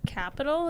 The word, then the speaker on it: Qapital: I use the app Capital. It's spelled with a Q, Qapital.